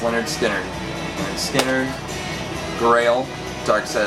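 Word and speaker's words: Lynyrd Skynyrd: Perfect for this time of year, pronounced Leonard Skinner.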